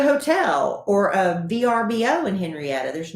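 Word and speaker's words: Henryetta: name of the home henrietta henrietta not henrietta texas and it's spelled h-e-n-r-y yes e-t-t-a texas doesn't have the y and it's only got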